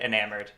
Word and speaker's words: eNamorD: Beckett, I actually did ask how I was supposed to pronounce it, and they said eNamorD.